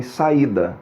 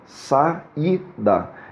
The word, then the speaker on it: saída: Isso também acontece quando a segunda letra for I, como por exemplo em saída, saída. Eu tenho duas vogais que vão ficar separadas em sílabas, o A e o I, e a segunda vogal é o I. Então ele vai receber um acento gráfico.